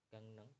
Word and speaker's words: 강릉: Gangneng itu bacanya neng. R-nya jadi L, N ya. N, maaf ya N. Jadi dibacanya N. Jadi N.